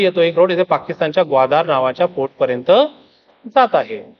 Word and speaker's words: ग्वादर: चीनने विकसित केलेला आहे ग्वाधार ओके स्पेलिंग अशी बनते त्याची इंग्लिश मध्ये म्हणायची गेली तर मराठीत त्याला ग्वाधार म्हणतो आपण है ना तर बघा